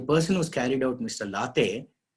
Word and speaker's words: Late: Late, it's not Mr. Late, L-A-T-E, he's a Maharashtrian, so they pronounce it as Late.